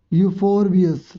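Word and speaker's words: Euphorbia: इसमें पेड़ों के नाम क्या है, अकेशिया, पाम, कैक्टी, और एक और है इसमें यूफोरबियस, ठीक है, ई साइलेंट है इसमें।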